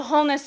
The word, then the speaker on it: wholeness: well you know that wholeness starts with a w i do know that but the w is silent right i'm looking at